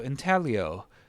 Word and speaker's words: intaglio: So intaglio, you don't pronounce the G.